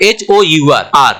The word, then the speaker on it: hour: Next है OUR, आर मतलब हमारा, और HOUR, आर मतलब समय के लिए जो हम घंटा, मिनट, सेकंड की बात करते हैं, वो इसमें ये घंटा बताता है। ओके, तो यहाँ पे H क्या हो गया, साइलेंट।